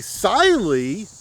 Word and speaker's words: Cyelee: Today we are looking at the SY. Did you know it's pronounced Sy? I've been saying SY this whole time, but turns out it's SY. Today we're looking at the Sily Cat EDG.